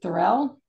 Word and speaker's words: Thurl: And, is it Thurrell? Or Thurl? It's pronounced Thurl. Yeah, rhymes with Pearl.